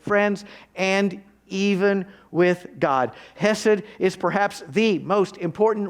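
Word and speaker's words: חסד: hesad the initial c is silent so you pronounce it as hesed it's a hebrew word that recurs in the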